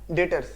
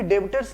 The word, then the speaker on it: debtors: तीसरा टर्म क्या है, डेटर्स, DEBTORS, बी साइलेंट रहेगा, डेटर्स बोलेंगे हम लोग, कोई भी डेबिटर्स नहीं बोलेगा।